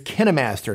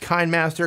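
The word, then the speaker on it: KineMaster: on the list is kenimaster not pronounced kind Master contrary to what you may have heard Elsewhere on the Internet kenimaster is is a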